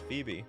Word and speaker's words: Phoebe: If I understand correctly, this is pronounced Phoebe. Come on, Phoebe.